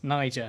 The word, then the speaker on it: Niger: The one you have to be careful about Yes, Niger. Only one G. saying. Yeah. It's a soft G.